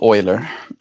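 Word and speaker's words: Euler: Oiler. That's his name. Yeah. Le Leonard Uler, but pronounced Oiler.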